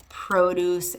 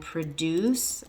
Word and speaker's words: produce: Okay, so sometimes we'll have verbs and nouns that are the same word, like produce and produce, okay? So following that pattern, if it's a noun, the stress is on the first syllable. Produce, produce. If it's a verb, produce, produce.